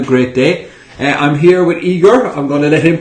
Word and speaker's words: Igor: So Igor, why don't you tell everybody, is it Igor or Igor? Igor, yes. Igor, yeah. So the American pronunciation is Igor because of Ivan, but I prefer it Igor, yeah.